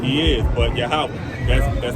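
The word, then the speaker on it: Yahweh: you know what I'm saying he is but yahwah that's that's how you say it in that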